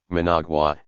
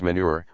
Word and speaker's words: Managua: When a foreign service candidate mistakenly pronounced Nicaragua's capital, Managua, as Manure, White remarked to Castle that this name should be generally adopted.